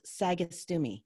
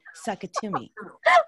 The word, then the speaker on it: Sagastume: My last name is pronounced Sagastume. It's Spanish. It's Spanish from Spain, yeah. But they somehow started saying Sakatumi.